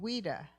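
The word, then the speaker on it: Ouida: Oh, how do you pronounce her name? And she's in Coming Aphrodite. Wida.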